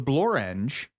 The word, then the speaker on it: Blorenge: billion that is correct a rare example of a word that does indeed rhyme with orange the Blorenge is a what a